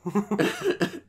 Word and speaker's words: Gwildor: Is a G. There's a G-W. Gwildor.